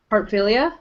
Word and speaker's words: Heartfilia: pronounce Lucy's last name is it really just as simple as it looks Heartfilia okay it is just